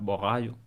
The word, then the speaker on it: Borralho: I think I I think Caio Borralho. Say it like that. Borralho.